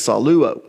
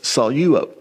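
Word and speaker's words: σαλεύω: people will pronounce this Salo but because there's a dip thong there with Epsilon Epsilon you take the Lambda and you put it with the first syllable okay so it's soluo now the picture that's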